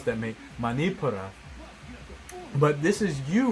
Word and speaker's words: Manipura: I know I didn't probably pronounce that, mate. Manipura.